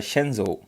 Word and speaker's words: Shenzhou: And name of this human spaceflight will be Henzhou 12. Henzhou 12. So you have to just remember. And even you can pronounce it as a Shenzhou.